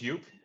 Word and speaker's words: Joep: all right so uh again my name is yup uh with a very Dutch but for you guys probably difficult to pronounce last name uh it's called